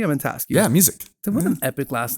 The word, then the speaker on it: Musick: cool so in house we have Mr music am i pronouncing your last name correctly I'm going ask you yeah music was an epic last name thank you bro